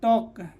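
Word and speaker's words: talk: ये के से पहले टी ए एल के क्या हो जाएगा, टॉक। डब्ल्यू ए एल के क्या होगा, बक। सी एच ए के एल के क्या हो जाएगा, चौक। एल का उच्चारण नहीं हो रहा है, ठीक है।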